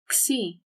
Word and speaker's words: Xi: Xi and Psi, when pronounced in Greek, have 1 sound. You just have to say it fast.